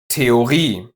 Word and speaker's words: Theorie: But watch out, the following ones are just pronounced with the long e. Kopie, Energie, Theorie, Genie, Melodie.